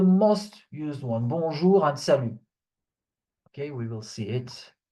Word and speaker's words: salut: So you have this, bonne nuit, and then salut. Salut. So you see here the T at the end is silent.